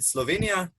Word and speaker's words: Slovenia: you from um i'm from slovenia so we pronounce it slovenia um it's frequently mixed with slovakia yeah abroad